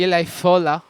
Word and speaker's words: Eli Fola: Guys, go follow Eli, the one and only Eli Fola. That's the right pronunciation. Yes. At the beginning, I was like, is it Eli? Is it Eli? It's Eli. Like I said, depending on your accent or where you come from, a lot of like